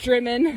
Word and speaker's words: Drymen: Anyways, this was in the town of Drymen, not Drymen, everybody. Drymen, yes, it's pronounced Drymen. We confirmed at the cafe.